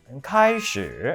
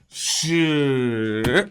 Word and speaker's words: 开始: 이게 만약 단어를 그대로 음절만 발음하세요라고 한다면 开始 이렇게 하는 건 맞아요. 그러니까 단어를 했을 때. 근데 문장에다가 넣게 되잖아요. 문장에 넣었을 때는요. 앞뒤 이음새가 매끄럽고 자연스러워야 되잖아요. 그치. 그래서 이럴 때는 开始 이 정도만 오면 돼요.